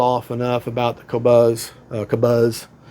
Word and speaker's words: Kobuz: I've rattled off enough about the Kabuzz Kabuzz. I know the buzz part's pronounced like a BB buzz, but uh beautiful plane.